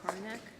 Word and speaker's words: Korinek: And you're Korinek. Is that pronounced your name right?